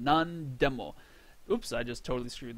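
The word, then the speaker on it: なんでも: once again nani, nan, but because we have a de directly after it, we have another word directly after it. It's just pronounced nan. Nandemo.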